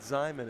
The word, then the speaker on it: Zimon: zimon the senior 64 they told me to pronounce it zimon it looks like it'd be Zan to me but hey we go